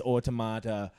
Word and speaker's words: Automata: point in the game oh really somebody says automata I was like aha was it kind of